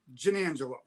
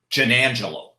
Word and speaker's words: Giannangelo: And then when I went to Italy, they told me I said it wrong. So we're all even. That's true. Now, how did they say it in Italy? They said it was Giannangelo.